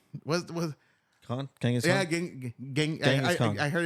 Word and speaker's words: Genghis Khan: Genghis Khan. I heard it's Genghis Khan. I was correct. Genghis Khan. Yeah, bro. I saw that one. That there was like it wasn't Genghis Khan. It's Genghis Khan.